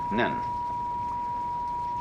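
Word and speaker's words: 忍: very interesting sign this it's pronounced Japanese nin and the top part of the character means now and the bottom part means the Mind heart the shin and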